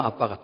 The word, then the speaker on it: 아빠: 우리말 아빠와 아람어 아빠가 똑같습니다. 예전에 아바 그랬는데 원소리가 아빠니까 아빠 이렇게 난 겁니다. 저 어느 나라에 그 노래하는 그룹이 아바인데 원래 아빠 이렇게 발음해야 맞습니다.